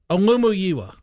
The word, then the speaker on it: Olumuyiwa: Are you going to try the pronunciation on the real name? Olumuyiwa.